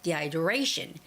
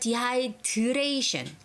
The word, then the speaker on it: dehydration: So to avoid dehydration dehydration our a has the stress so what do three it's the third syllable stress dehydration dehydration dehydration okay so it doesn't sound like diation like most Koreans would say diation tation but you know